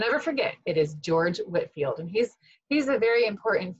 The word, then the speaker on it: Whitefield: I think you might have said Whitefield, but it's actually pronounced Whitfield. What letter should be left out of Whitfield in order for you to know that we should pronounce it Whitfield?